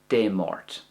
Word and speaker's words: Dé Máirt: Now, if it's an MH sound, I pronounce that like a V sound. But if you want to pronounce it like a W sound, that's perfectly fine. It's just a small difference in dialects. It's no big deal. It's all the same language at the end of the day.